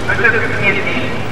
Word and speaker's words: Pugnetti: Monsieur Pugnetti, c'est écrit comme ça se prononce, qui va donc nous